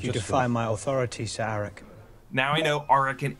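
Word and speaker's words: Arryk: defy my authority sir aric now I know aric and Eric are really just meant to be homophones they're both pronounced Eric but I just pronounce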